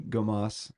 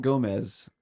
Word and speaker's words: Gomas: To now I'm going, her name's Tiffany Gomas, not Gomez. It's Gomas, like Gomas. So sometimes you'll hear people audibly say Gomez, but it's not quite spelled like That's that.